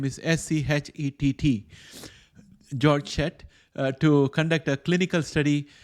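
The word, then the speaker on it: Georg Schett: the way for a German team led by jorg I don't know if I'm pronouncing his name properly it's spelled g-e-o-r-g and the last name is s-c-h-e-t-t George set to conduct a clinical study at the University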